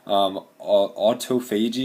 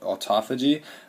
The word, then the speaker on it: autophagy: Lysosomes can also be used down here in autophagy or autophagy, depending on how you say it, where this particular